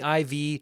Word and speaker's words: IV: loving these videos Jimmy IV just like it's pronounced like the letters not the fourth but no sweat he